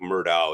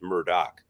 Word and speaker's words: Murdaugh: said the last name even though it looks like Murdo is pronounced Murdoch so I guess if